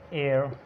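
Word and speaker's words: heir: इसी तरह ये हेयर नहीं है, एयर।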